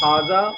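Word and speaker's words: هذا: So it will be pronounced Hada, although it is written Hada. When you look at it, you will see that it is written Hada, but it will be pronounced Hada because the Alif, the first Alif, has been dropped in writing.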